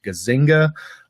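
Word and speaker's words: Gazzaniga: As I understand what he's saying, based on the research of other people like Antonio Deasio and Michael, I think his last name is pronounced Gazinga, um, like neuroscience kind of has this parsed out pretty well.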